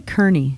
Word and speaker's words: Kearney: pronounce your name Kearney it's actually Kearney Kern attorney so thank you it